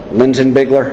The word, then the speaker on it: Linsinbigler: Okay, Rod, basically just take me through from the very beginning contact you had with Daniel Linsinbigler.